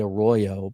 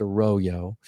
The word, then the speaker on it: Arroyo: I always want to say Arroyo, but it's pronounced Arroyo.